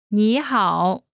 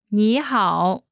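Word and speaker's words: 你好: When there are two third tones in a row, the first one changes to the second tone. Listen to the pronunciation again. 你好，你好， Last is 吗？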